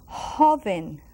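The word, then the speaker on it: joven: Young you're right so Hoven now you take you breathe Hoven Hoven and guess what it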